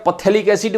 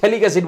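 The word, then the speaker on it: phthalic acid: भैया पथेलिक एसिड मत बोलिएगा, ये पथेलिक एसिड नहीं बोला जाता। पी जो है वो साइलेंट, जैसे साइकोलॉजी में पी साइलेंट होता है, जैसे पथेलिक एसिड नहीं बोला जाता, इसको थैलिक एसिड बोला जाता है।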